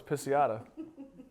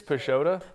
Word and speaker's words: Pisciotta: I thought it was pisat it's pesota but that's okay because it only ever gets pronounced like correctly in Italy it's like you think